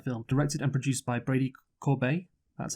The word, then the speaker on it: Corbet: So The Brutalist is a 2024 epic period drama film directed and produced by Brady Corbet.